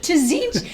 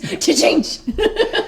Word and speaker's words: Tzeentch: Tzeentch. It's like a sneeze. Tzeentch.